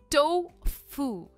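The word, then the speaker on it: tofu: पर ये टोफू नहीं है। इट इज़ टो। टोफू। टो पर इसका स्ट्रेस है।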